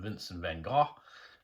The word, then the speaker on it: Vincent van Gogh: a vincent van gogh i've also heard it pronounced vincent van gaal um yeah here i pronounced vince van gogh and this is one